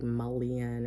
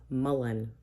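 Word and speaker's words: mullein: so there's that Mullen I had to look up how to pronounce it again because I can never remember it so yeah I keep wanting to say like Malian or something but it's Mullen melon okay I'll get it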